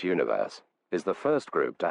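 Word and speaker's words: ONEWE: day the boy group one verse pronounced universe is the first group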